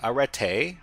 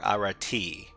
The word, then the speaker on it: Arete: Okay, arete. Arete, alright. A as in father, re as in short E, not re. Arete, emphasis on the last syllable. So this is arete or arati.